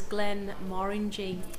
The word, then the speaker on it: Glenmorangie: you pronounce genre correctly so the correct correct pronunciation is glenn marin g um it actually stands for uh the glenna